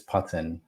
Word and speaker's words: Putan: My family have actually always pronounced it as Putan, but Oh, it's more of an English pronunciation of a name that doesn't feel English.